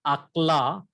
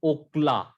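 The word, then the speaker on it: אָכְלָה: So it gives a short O sound like in sword. A short O sound, sword. So the pronunciation of this word is not akla, but it is okla.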